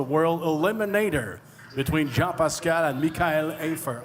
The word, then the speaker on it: Mikhail: japascara and Mikhail aifer I say Mikhail because I talked to Michael earlier now and I said please pronounce your name for me he said Mikhail so it deserves to be pronounced correctly this event is presented